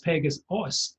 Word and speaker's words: Pegasos: And I see it's spelled differently from the Greek mythology winged horse, which is spelled Pegasus, whereas yours is Pegasos, spelled S-O-S.